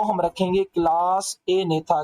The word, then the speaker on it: Agnatha: उसे कहा जाता है ए नेता और जो दूसरी क्लास उसे कहा जाता है नेता स्टोमाटा इसमें जो बेटा जी है ना ये दोनों के अंदर साइलेंट है अच्छा अगर हम इसको